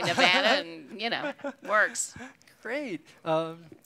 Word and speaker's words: Nevada: You know, the correct pronunciation from the Spanish is Nevada, Sierra Nevada. Really? But we have come to say it as Nevada. And anybody who comes out here and does not say Nevada, you know they're a stranger. Yes. And you know they're saying it wrong.